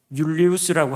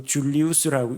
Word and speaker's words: 율리우스: 그리고 율리우스라고 하기도 하고 줄리우스라고 읽기도 합니다. 같은 이름인데 J를 이제 J 발음을 지읒 발음으로 내는 쪽이 있고, 언어에 따라서는 그것을 발음을 Y 음가로 내는 곳도 있기 때문에 율리우스나 줄리우스나 발음이 다른 것 같지만 동일 인물입니다.